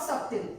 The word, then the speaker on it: subtle: see some word like it's not subtle b is silent because there is t after b then you can see